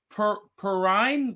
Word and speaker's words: Perrine: i've been mispronouncing her name i'm going to pronounce it right perrine perrine perrine perrine um anyway she was miss